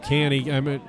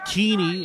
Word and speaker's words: Keeney: I was calling him Canny. Apologize. Keeney is the pronunciation.